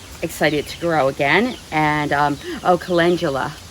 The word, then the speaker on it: calendula: I have called it calendula for so many years, and I hear that everybody else pronounces it calendula. Everybody. And I pronounced it calendula because calendula means first day of the month. So I assumed it referred to the calendar. So that's where I got my pronunciation years ago.